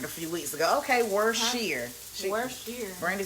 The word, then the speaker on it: Worcestershire: Okay, Worcestershire. Worcestershire. Brandy said it's pronounced Worcestershire.